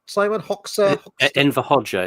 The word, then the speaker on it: Hoxha: Enver Hoxha. It's spelled Hoxha, but Enver Hoxha is how you say it.